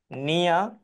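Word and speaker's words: near: নিয়া, আমরা এখানে আরটাকে সাইলেন্ট রাখবো, আরটি বলার কোনো প্রয়োজন নেই।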